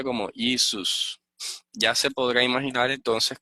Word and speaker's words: Jesús: Jesús, fíjense que en inglés dicen más o menos como Jesus, ¿ok? Jesús, así lo pronunciaban los griegos.